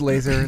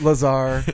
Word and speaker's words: Lazar: yes Bob Lazar first I thought it was laser that would have been pretty cool that would've been another coming out of him it's pronounced flaws Lazar guys let me tell you about him a